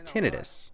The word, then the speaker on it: tinnitus: the medical field where she's a PA, it's tinnitus.